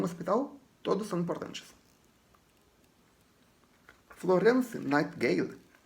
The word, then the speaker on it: Nightingale: Pronuncia-se Nightingale.